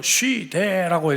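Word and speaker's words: σὺ δέ: 2장 1절을 보니까 오직 너는 이렇게 시작을 하고 있는데요, 이 말은 원래 원문으로 쉬되라고 이렇게 발음을 하는 단어입니다.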